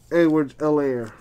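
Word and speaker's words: Edwards-Helaire: that oh raided rookie edwards l air the h is silent by the way mccaffrey insert eason colts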